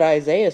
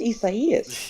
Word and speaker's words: Isaias: I called it Isaiah for 2 years until I realized, oh wait, that's Isaias.